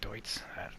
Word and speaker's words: Deutz: I keep saying Dudes, but it's Deutz.